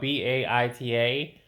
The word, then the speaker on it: Baita: So um beta is spelled Baita. So it's not beta Beta.